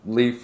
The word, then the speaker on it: Leaf: Like leaf, like spelled like leaf.